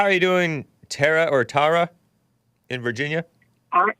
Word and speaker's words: Tara: Technically it is Tara, but I got a little tease when I was in elementary school, so I kind of changed it to Tara.